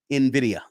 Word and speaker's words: Nvidia: mamb said it uh let's see here it's pronounced Nvidia yeah uh also crypto AI also there uh